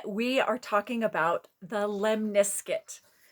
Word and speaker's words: lemniscate: are talking about the lemniskit i looked it up lemniskit rhymes with biscuit the lemniscut and taro